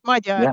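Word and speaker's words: Magyar: I think your native language was um Magar. Is that right? Yeah. Majar.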